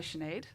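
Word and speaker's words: Sinéad: just say their names so we've got a shenade that's how you spell it here though as well like s-i-n-e-a-d yeah yeah then i'm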